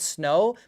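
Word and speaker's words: Sknow: I was thinking of calling it Snow, but you spell it S-K-N-O-W. So it's like Snow, but the knowledge of nerd of me, because I'm a nerd when it comes to snowboarding.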